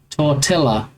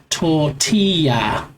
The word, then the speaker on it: tortilla: So, double L is its own letter pronounced like a Y. Tortilla is its own sound that's usually Y in Spanish.